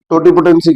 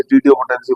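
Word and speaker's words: totipotency: ठीक है, अब देखते हैं पहले तो टोटीपोटेंसी क्या होता है, कभी इसे टोटीपोटेंसी बोला जाता है, कोई इसे टीटीओपोटेंसी बोलते हैं, अलग अलग प्रोनाउंसिएशन है इसके।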